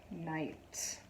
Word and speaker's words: night: Night. Night. So when you see I-G-H, the I is making the only sound. G and H are silent. So when you see I-G-H, it's just I, long I sound.